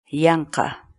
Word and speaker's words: yanqa: for today is in english the quechua word yanka means in vain for nothing needlessly for example